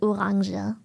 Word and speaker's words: Orange: but yes we don't we don't call it orange orange we call it oranga we we may have taken the English word and literally just pronounce it German it's an oranga yes